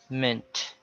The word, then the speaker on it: mint: Of course, because of the E, we tend to pronounce it as meant, a soft E. But it should be pronounced as schwa. So that is not meant, but mint, mint, agreement, judgment, development.